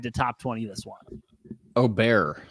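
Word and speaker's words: Åberg: Aubert is how it's pronounced. Aubert. I keep saying it wrong.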